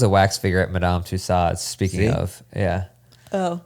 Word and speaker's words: Tussaud: wax figure at Madame Tussauds. Speaking See? of, yeah. Oh. It's not Photoshop. Yeah, it isn't Photoshopped, so you were right about that. Tussaud, I believe it's pronounced. Was it Tussaud? Yeah. Not Tussauds.